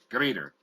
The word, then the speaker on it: Grieder: Grieder. Grieder. Yes. Like death greets you? Grieder? Okay. Yes. I know the I before the E. I want to make sure I was pronouncing it right. And well, Andre in German it's Grieder. It's a long I, long E, I. In German it's an E.